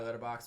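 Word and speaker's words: Letterboxd: on that the interview list is on my letterbox which is at h a y yes and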